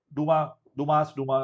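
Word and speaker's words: Dumas: Okay, you make in Duma method, Duma is the same thing, right? You don't pronounce yes.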